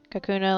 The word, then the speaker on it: Kakuna: Kakuna like Hakuna like a hakuna mata.